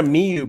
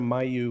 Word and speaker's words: Miyu: It's Jenna Miyu, by the way. I was calling her. I was calling her Jenna Mayu when I had her on the show last. incorrectly the entire show.